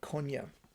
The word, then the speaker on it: Konya: Konya with a qaf sound. It is in modern-day Turkey or Turkey. However, in modern Turkey, it's spelled with a K in their modern orthography, and it's pronounced as a soft. They usually don't pronounce the qaf, and they just say Konya.